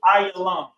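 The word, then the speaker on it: עילם: Next, you have Elam, and it's pronounced in the ancient Hebrew, Ayalam.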